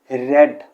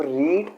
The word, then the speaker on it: read: जो first form है उसे हम प्रोनाउंस करते हैं रीड, सेकंड को रेड और थर्ड को भी रेड, the spelling being the same.